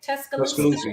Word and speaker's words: Tuscaloosa: Tuscaloosa, yes.